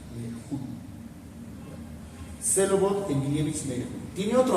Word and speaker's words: Meyerhold: Expresionismo y ahora nos vamos con Papi Meyer, que en realidad es Meyerhold, así se pronuncia, Meyerhold.